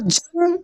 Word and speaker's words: जंग: देखिए, जैसे देखिए, ज के ऊपर ये बिंदी जो लगा है ना, ये न के रूप में इसका प्रोनाउंसिएशन होगा। किस रूप में होगा? न के रूप में। कैसे? देखिए, ज अनुस्वार जंग, ग क्या पढ़ रहे? जंग।